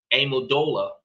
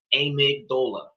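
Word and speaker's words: amygdala: Amodola. I said that wrong, y'all. Amigdola. That's better for appropriate pronunciation, but still probably said wrong.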